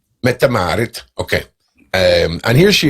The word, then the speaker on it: Mette-Marit: about metamar how do you say metamarit metamarit metamarit okay um and here she is styling a